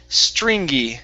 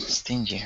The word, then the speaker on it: stringy: go good um now this word here is pronounced stringy stringy I read stingy right yeah Str stringy there